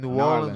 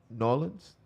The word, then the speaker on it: New Orleans: Man, the food in New Orleans was amazing. New Orleans.